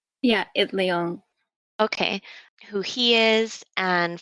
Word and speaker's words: Itliong: know how to say his last name, Larry Itliong? Yeah, Itliong.